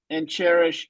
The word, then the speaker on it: Cherish: Of Natalia Soltero and Cherish Richardson. Cheris is how you pronounce her name, like Cheris?